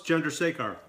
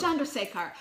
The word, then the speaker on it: Chandrasekhar: Chandrasekhar. Did I get that right? Close. Chandrasekhar. Darn it! Darn it! Pretty Okay, damn good, though. Chandrasekhar.